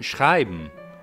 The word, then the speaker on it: schreiben: Or German schreiben, meaning to write, whereby one syllable is schrei and the other one is m, where m works as a vowel.